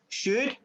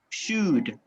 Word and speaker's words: should: to yeah okay repeat should repeat which letter is not pronounced should which layer is not pronounced letter l letter l exactly all right letter l is not pronounced should when do